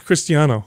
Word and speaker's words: Cristiano: Yeah, it's Cristiano.